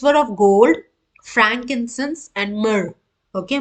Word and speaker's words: myrrh: so the gifts were of gold frankincense and myrrh okay myrrh that's how you pronounce the word mer okay so uh frankincense